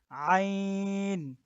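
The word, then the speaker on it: عين: আচ্ছা, তারপর এটা হলো আইন। আইন। তো আমরা আইনের উচ্চারণটা গলার ভিতর থেকে করব। আইনের উচ্চারণটা মুখ থেকে করলে হবে না, বরং গলার ভিতর থেকে করতে হবে।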